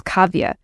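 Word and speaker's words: Kavya: my my actual name my legal name is cavia and that's spelled k a v y a which for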